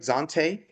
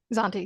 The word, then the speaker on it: Zontee: Please welcome our guest, Zanti, author of the book Datadriven Personalization: How to Use Consumer Insights to Generate Customer Loyalty. Did I pronounce that right? Zante. Zante.